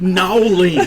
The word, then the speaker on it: New Orleans: it's pronounced Nowlings.